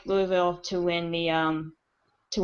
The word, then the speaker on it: Louisville: live in the south Louisville there we go um it's like a two and a half syllables yeah cue ball in mouth and say Louisville yeah um Teddy Bridgewater is